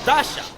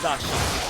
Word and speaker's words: Dacia: I don't pronounce the I. That's an exception. So Dasha. Dasha.